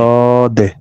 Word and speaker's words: ص: صاد এই যে এই হরফটা এখানে মোটা হবে, ঠিক আছে? এই যে লেখা আছে এখানে, এই হরফটা উচ্চারণে মোটা হবে, চড়ুই পাখির মতো একটা আওয়াজ ক্রিয়েট করবে এখানে।